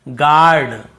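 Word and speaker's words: guard: यहाँ पर देखिए गार्ड, लेकिन स्पेलिंग हमें गार्ड पहरेदार वाला गार्ड।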